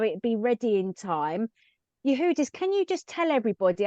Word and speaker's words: Yehudis: My name is Yehudis.